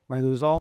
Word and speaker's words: Riluzole: Ryuzal.